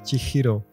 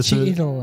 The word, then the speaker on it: Chihiro: mais tu sais, Chihiro, ça se prononce Chihiro. Et j'avais dit, ouais, vas-y, va, je m'en bats les couilles. Va mourir. Et en fait, il avait raison 100%, donc... oui, c'est Chihiro, effectivement. Chihiro. Jusqu'au jour, j'ai rencontré une japonaise qui s'appelait Chihiro. Du coup, ah ouais, en fait, je prononce mal.